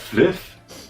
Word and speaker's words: Flyff: Du meinst Fliff? Da spricht man doch nicht F aus, du Vollidiot. Das heißt Fliff. Fly for fun. Fliff ist doch ganz einfach. Das kann sich doch jeder merken. Oh, scheiße.